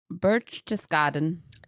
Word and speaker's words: Berchtesgaden: Berchtesgaden.